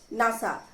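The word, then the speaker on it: NASA: And space administration और इसे pronounce कैसे करते हैं नासा ना कि एनएसए फिर सेकंड है radio detection and ranging radar personal identification number pin federal bureau of investigation FBI.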